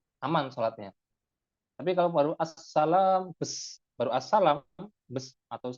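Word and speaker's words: السلام عليكم: Karena minimal redaksi salam itu assalamualaikum dan tasydidnya harus terbaca assalam. Nah, eh, apa namanya? Kadang orang itu ketika membaca salam tidak sampai tuntas. Assalam itu ada tasydidnya di atas sin.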